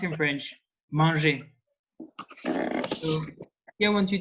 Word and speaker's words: manger: is pronounced in French manger. So here I want you to picture a man eating, and he's eating and putting crumbs everywhere. And man is the beginning of the pronunciation of manger. Man, manger.